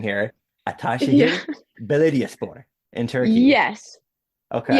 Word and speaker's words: Ataşehir: Ataşehir Belediyespor in Turkey. Yes. Okay. Yeah. Honestly, you made it a little bit more complicated. You can just say I Atashir, did okay.